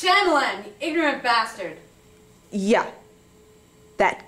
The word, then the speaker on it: Shyamalan: Night Shyamalan. It's pronounced Shyamalan, you ignorant bastard.